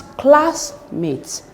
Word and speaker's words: classmate: a compound word and the stress should be on the first word which is classmate classmate this is the first